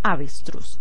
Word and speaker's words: avestruz: clasificamos como palabra aguda veamos el otro ejemplo avestruz digamos la hemos alta avestruz avestruz la fuerza de la voz la hacemos en la última sílaba sí y cruise aquí hacemos la fuerza por lo tanto es una palabra aguda porque tiene acento bien